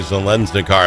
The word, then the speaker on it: Zeleznikar: We've got Representative Natalie Zensar on the program for me with me.